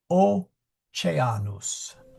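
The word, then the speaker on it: Oceanus: And the other one is this is C before E. So it is soft. Oanus.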